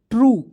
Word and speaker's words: true: अब कैसे कहिएगा सर जी कैसे, तो TR से होता है दोस्तों ट्र होता है, और UE आएगा तो उसको उच्चारण यू के रूप में, तो ट्रू, ट्रू।